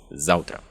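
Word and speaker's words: заўтра: Если же мы будем читать белорусский текст, то там наше внимание привлечет вот эта буква, которая произносится как «в» – «завтра».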